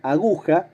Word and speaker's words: aguja: Porque si bien empieza por A, aguja, la sílaba tónica no es la primera. Esa A no es tónica. La sílaba tónica está en el medio. Es gu.